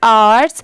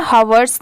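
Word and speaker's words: hours: इसे क्या पढ़ेंगे आर्स अब जैसे देखिए यहां पर भी लेटर एच साइलेंट है इसे सिर्फ आर्स पढ़ रहे हैं हवर्स नहीं क्योंकि यहां पर तो एच दिया हुआ है ह की साउंड आनी चाहिए बट ये साइलेंट है ओ एन ऑन सोशल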